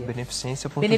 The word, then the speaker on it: Beneficência Portuguesa: O hospital é Beneficência, como se pronuncia? Beneficência Portuguesa. Beneficência Portuguesa.